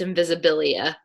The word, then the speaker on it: Invisibilia: It's spelled like invisible, but it's Invisibilia.